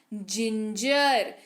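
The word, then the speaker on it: ginger: एन जी आई आर जिंजर जी के बाद क्या है आई है तो जी का उच्चारण क्या होगा जे हो जाएगा जिंजर यानी की अदरक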